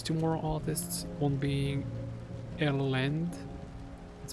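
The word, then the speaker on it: Ellende: But besides Black Ceiling, there's two more artists, one being Elend. It's spelled E-L-L-E-N-D-E. I think it's pronounced Elend, or Elendi, or Elend, I'm not exactly sure.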